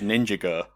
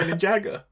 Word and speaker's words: Ninjago: Anno every time you see it written down now you'll read it go oh that says ninja girl no I doesn't I'm say like Lego Ninjago ninjo ninjo pan pending I'm definitely going to say it like that now it's definitely Ninja Go all right there's no